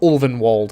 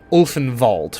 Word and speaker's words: Ulvenwald: something it's called the ulvenwald um and it is pronounced olvenwald and not orphan vault which is how it